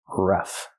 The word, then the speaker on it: rough: a rough patch pronunciation use the short uh like cup and up r r Ruff plus the F sound F like flowers rough a rough patch use